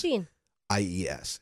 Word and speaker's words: Jeanies: Like jean, like blue jeans. Jean. IES.